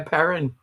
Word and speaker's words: Perron: all over i apologize no you're perfectly right it's andrea perrin okay that's it it's actually my last name is french it's perron well i